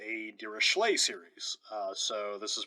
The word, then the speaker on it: Dirichlet: a series of this form is called a dirachlay series so this is pronounced dirichlet um the only way i remember how to